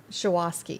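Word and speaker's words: Shuwaski: You've got Michael Guest, and do you pronounce that Shawoski Young? Shawoski, yeah.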